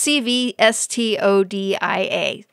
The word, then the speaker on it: Cvstodia: Yes, it's CVSTODIA. So it's a little hard to pronounce.